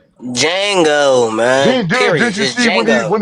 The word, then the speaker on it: Django: Jango, man. Did you see when he when he popped home boy and said the D is silent?